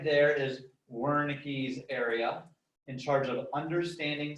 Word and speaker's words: Wernicke: boca you're speaking well german guy is pronounced wernicke right but spelled with the w wernicke's area is in